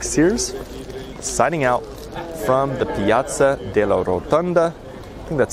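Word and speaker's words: Piazza della Rotonda: this is Sears signing out from the Piazza de la rotunda that's how you say it and wishing you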